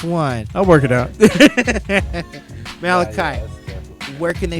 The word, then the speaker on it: Malachi: on instagram at dj malachi m-a-l-a-c-h-i it's the biblical pronunciation or think of children of the corn the movie there it is